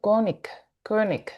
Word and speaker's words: König: Ahí te iba a decir König sería la pronunciación correcta, es alemán el segundo apellido, ¿cierto?